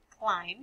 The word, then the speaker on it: climb: and good thanks claire climb because the b and climb is silent all right go on